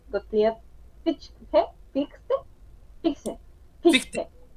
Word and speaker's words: Fichte: Fichte, Fichte, ándale, Johann Fichte.